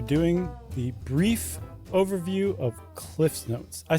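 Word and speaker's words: CliffsNotes: We are doing the brief overview of Cliff's Notes. I said it wrong the first time. It's never been Cliff Notes. It's Cliff's Notes.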